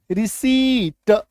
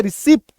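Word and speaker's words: receipt: अच्छा यहां पे देखो, एक्चुअली में ये रिसीट होता है, ठीक है, प का यहां पे साउंड नहीं आएगा, है ना, ये हम लोगों ने पी के साइलेंट लेटर रूल में मैंने आपको सिखाया भी है, ठीक है, बट अगेन से मैंने यहां पे रिसिप्ट, हम लोग बोलते हैं रिसिप्ट, तो एक्चुअल उच्चारण क्या होगा, रिसीट, यहां पे प नहीं रहेगा, रिसीट, ठीक है, कंसीव,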